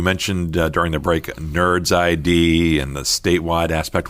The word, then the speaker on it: NRDS: in the profession uh it's nrds right correct which is pronounced nerds in in the room